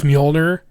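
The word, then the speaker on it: Mjölnir: I had a co-orker correct me on the pronunciation of Molir, and he's like, Molir. No, he was like, actually, it's Molner. and you said Mjolnir and I was like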